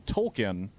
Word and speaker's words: Tolkien: where yeah, they reveal that Token's name has been Tolkien, but Stan and his dad have just been saying it wrong for the past 20 years.